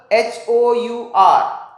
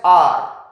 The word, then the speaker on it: hour: For example, hour, we pronounce it as r.